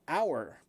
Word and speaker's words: hour: Because the H in the word hour is silent.